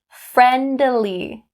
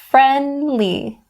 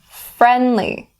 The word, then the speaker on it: friendly: We don't say friendly. We don't say it like that. It sounds awkward, even though it's correct, but don't say it that way. Stop the D and say friendly, friendly.